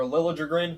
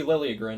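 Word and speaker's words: Liljegren: You have Liliain or Lilligrin, however you pronounce it these days because I've heard both now. Used to always be lirin and now it's Lilligrin or I I don't know.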